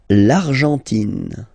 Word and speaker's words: Argentine: L'Argentine. Okay, so you've got this nasal here, en, l'argent, and then tin. Don't pronounce the final E, it just gives you the pronunciation of the N, in.